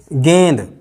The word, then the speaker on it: गेंद: जैसे गेंद, गेंद है, अगर हम ऐसा लिखेंगे ये वास्तव में तो गेंद कहलाएगा, गेंद, ये तो गेंद कहलाएगा, क्योंकि नाका आ रहा है ना उच्चारण, दा से पहले नाका उच्चारण आएगा अनुस्वार में, किंतु ये गेंद नहीं है, ये गेंद ही है।